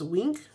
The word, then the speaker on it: Weenk: Uh, this one is called Magnolia and I believe that's pronounced wink.